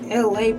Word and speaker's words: Elay: I'm your girl, aka the host, Elay, pronounced like LA, like the city.